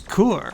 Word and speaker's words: KUR: this is core i assume is how you pronounce it one of the